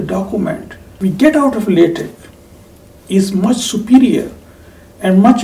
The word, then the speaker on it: LaTeX: LaTeX is written as LaTeX but pronounced as LaTeX.